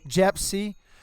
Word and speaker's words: Jepsy: Jepsy.